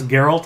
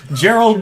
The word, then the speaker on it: Geralt: Well, it's like I've heard people mispronounce Geralt, and so it's like Gerald the Witcher.